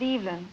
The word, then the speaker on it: Evelyn: old are you EV well I pronounce it EVN EVN Evelyn yes I'm 23